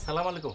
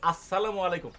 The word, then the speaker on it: আসসালামু আলাইকুম: উচ্চারণটা সালামু আলাইকুম হবে না। হবে আসসালামু আলাইকুম।